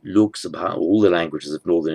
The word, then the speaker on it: Lok Sabha: In Sanskrit, it would be pronounced Loka Sabha. In Hindi, Lok Sabha.